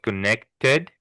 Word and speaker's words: connected: Same with connected. It's the only word you really pronounce the ed.